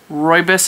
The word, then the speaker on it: rooibos: This is green rooibos. Rooibos is spelled R-O-O-I-B-O-S because a lot of people don't know how to say that as rooibos.